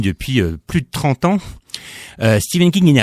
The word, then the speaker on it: Stephen King: Je vais le prononcer à l'anglaise, Stephen King.